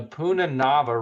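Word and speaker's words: punarnava: not gonna try okay it's called the puna naba so the ar is kind of silent the puna nava root um it actually is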